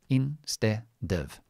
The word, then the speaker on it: instead of: Now this um is very the the pronunciation of instead of is in ste and then dov, which I'm going to leave it in the schwa, dov. Instead of, in ste dov, instead of.